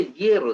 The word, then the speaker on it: hierro: Se pronuncia hierro, debería ser con H.